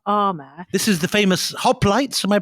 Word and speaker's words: hoplites: This is the famous hoplites, am I pronouncing it correctly? The hoplites, yeah.